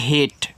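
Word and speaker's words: hate: एच ए टी इसको पढ़ते हैं हेट।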